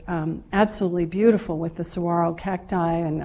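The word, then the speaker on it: saguaro: absolutely beautiful with the sarro cacti and I totally mispronounced them when we first moved there. Siguro or something and the mover said, "Lady, you're going to have to get this right at Sarro."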